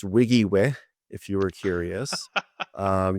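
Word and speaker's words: WYGIWYH: the application is trying to do it is pronounced Wiggy way if you were curious um you are not supposed to spell that out every time you use it so Wiggy way although when I look at it like phonetically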